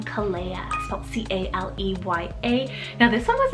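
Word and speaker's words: Caleya: the list here i have is the name kalea c-a-l-e-y-a now this one was actually kind of tricky to find any information on but it could be a variant of the name kalea but spelt c-a-l-e-a i feel like it probably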